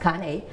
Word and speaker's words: Cane: is a Kane Corso it looks like cane but it's pronounced Kane um this is also